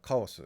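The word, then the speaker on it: カオス: Japanese word is kondan, or chaos is pronounced kaos in Japanese.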